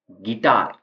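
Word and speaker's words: guitar: यहां पर T silent है नेक्स्ट है यू साइलेंट गिटार तो गिटार की स्पेलिंग में यू का कहीं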